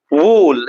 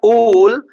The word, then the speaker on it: wool: And similarly, W-O-O-L, wool. It's not wool, it's wool. Short oo sound.